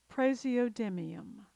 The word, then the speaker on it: praseodymium: This one looks tough, but it's really pronounced phonetically. Praseodymium, praseodymium.